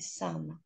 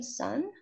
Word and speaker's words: sum: Então, se você não pronuncia o M correto, você está falando, ao invés de sum, que é a soma, filho.